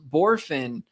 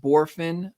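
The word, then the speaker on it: Bohrofen: it's Jace it's pronounced borfin however it is spelled b-o-h-r-o-f-e-n but it so it looks like three syllables and it's spelled a little weird but it's Jace borfin again that's b-o-h-r-o-f-e-n he's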